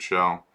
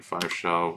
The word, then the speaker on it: 5hell: five shell no parameters I'm sorry shell not it's pronounced shell but since it starts with a five I often think of it as five hell or five shell in my head so um okay so